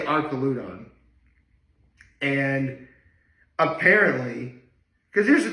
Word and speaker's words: Archaludon: let me pronounce this, Archaludon. Like Archer, Arc, okay. But Arcos, sometimes the H in Arc can be silent, so I'm going to say Archaludon.